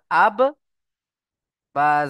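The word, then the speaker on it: أبّا: তাহলে বাকে কেমন ভাবে পড়তে হবে? দুবার পড়তে হবে। হামজা বা জবার আব বা জবার বা আব্বা।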